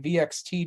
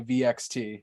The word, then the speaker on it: VXT: I think I've heard Deonna and Chelsea say VXT. I think it's supposed to be pronounced Vexed. Hmm. Yeah, I think it's supposed to be Vexed.